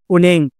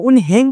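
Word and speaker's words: 은행: कार्यालय अर्को छ हाम्रो उनङ अब यो उनहेङ पनि भन्न सक्नुहुन्छ तर यसको वास्तविक उच्चारण के हुन्छ उनेङ हुन्छ है अको उच्चारण हुँदैन।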